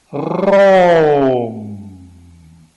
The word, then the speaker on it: Raum: And the other question is this question of the German for space that I considered once or twice in other work, pronounced Raum, Raum.